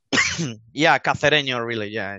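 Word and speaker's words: Cacereño: Is it Cacareño or is it, am I even pronouncing that correctly? Yeah, Cacareño, really.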